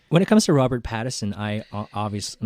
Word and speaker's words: Pattinson: I think it's Pattison. What did I say? Pattinson? Paddington Bear. Yeah, I was going to say Patterson. It's spelt Pattinson. Oh, Okay. well, then it's Pattinson and you're wrong.